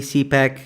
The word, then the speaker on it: CPAC: Am I pronouncing it correctly? CPAC? Yeah, okay. That's it.